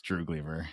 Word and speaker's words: Droogleever: would kill me for that but uh it's drew gleever it's that will suffice and uh well i